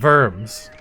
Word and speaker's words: Worms: Oh, Worms. If it's not got an umlaut, don't put one in, though W is usually pronounced V.